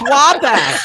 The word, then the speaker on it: Wabash: Those of you just tuning in, 525 South Wabash Street. Did I say it right? Wabash. Wabash. Wabash. Bash. Yeah. Oh my God. Like Basham. Wabash. We're gonna Like bash.